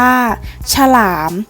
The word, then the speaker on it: ฉลาม: เท่า นั้น นะ คะ ฉลาม อ่าน ว่า ฉลาม คำ ว่า เฉรา จะ ออก เพียง แค่ ครึ่ง เสียง เท่า นั้น ค่ะ ฉลาด อ่าน ว่า ฉลาด